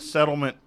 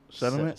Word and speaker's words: sediment: foot of water that settlement probably only comes up why are you wincing settlement settlement sediment sediment say Tupperware Tupperware you're saying it wrong you're saying settlement like a lawsuit settlement okay sorry I pronounced